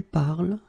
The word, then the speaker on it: parles: it je parle, tu parles, il parle, elle parle. So it does mean that even if you write them differently, E, ES, and then ENT, you will pronounce them the same way.